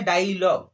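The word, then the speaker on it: dialogue: पढ़ेंगे तो क्या है, डायलॉग, क्या है, डायलॉग, है ना, डायलॉग, है ना। यहाँ पर यू को नहीं पढ़ रहे हैं, तो गाइस यहाँ पर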